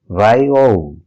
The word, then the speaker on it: VAIO: Our next brand is VAIO, and it's pronounced as VIO, VIO.